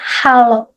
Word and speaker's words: halo: Hello is similar with hello, but in Indonesia is halo.